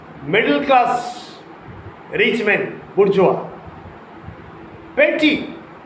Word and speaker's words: petite: Petty, P-T-I-T-E, not petite, petty. T-E is not pronounced.